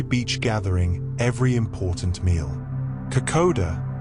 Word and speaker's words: Kokoda: Kokoda, pronounced Kokonda, is Fiji's national dish, and it captures the essence of the islands in a bowl.